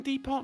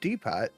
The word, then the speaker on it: depot: own bomb yeah probably right i'm ironically saying depart now that's what it's called it's not irony or either it's just literal pronunciation no it's deepat d-e-p-o-t people if you wanna stand out like